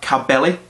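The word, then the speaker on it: Caballé: has the album Barcelona as well with monster cabelli that's how you say her name and a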